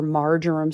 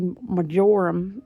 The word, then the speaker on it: marjoram: I always feel like sweet majorum is like, or marjoram, someone was saying, they say it like that. I've never heard anyone say it like that. But we're down here in the southeast, honey. We say majoram, okay?